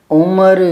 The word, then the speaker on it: उम्र: है ये उम्र जबकि उस गीत में उम्र नहीं है वह उमर बोलता है यह ठीक है ऐसे गाया गया वह गाना समय की धारा में उम्र बह जानी है मतलब दोनों शब्दों का उच्चारण समझ गए यह उम्र यह उम्र ठीक है यहां थोड़ा बता दूं